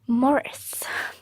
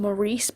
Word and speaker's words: Maurice: I'm going to be talking about Morris I actually thought this is this was pronounced Maryse before kind of glad that I've got that out of the way I actually know how to say it properly so essentially Morris is